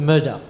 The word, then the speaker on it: Murdoch: it says Murdoch okay so it's not murok it's a Murdoch so it's a name